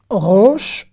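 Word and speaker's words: ראש: quand même israël euros roche 1 le alès ne se prononce pas ici il ya rien il ya en tout roche roche la tête roche a chat non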